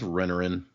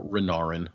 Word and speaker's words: Renarin: And then we have a talk with Renarin, or Renarin, sorry. It's such a small difference in that pronunciation, but I always get it.